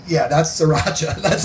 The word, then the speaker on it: sriracha: corrected me it's like you don't pronounce the first r it's sriracha i'm like okay okay